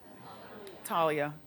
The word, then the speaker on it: Thalia: called do that Conga also the Mexican singer Talia Thalia how do you say her name Talia it's funny how nobody cares no no no